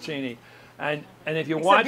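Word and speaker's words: Cheney: than anybody His Name by the way is pronounced cheny and and if you watch you're the only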